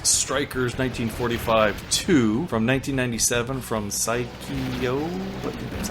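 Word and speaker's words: Psikyo: as well here's Strikers 19452 from 1997 from psycho that's how you say it and I think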